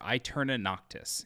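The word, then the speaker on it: Aeterna Noctis: a lot of time playing is a or I turn a noctis it's spelled a-e-t-e-r-n-a-n-o-c-t-i-s this is a 2d metroidvania on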